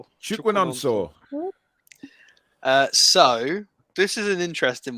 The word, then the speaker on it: Chukwunonso: Do you want to pronounce his first name? Chukwunonso.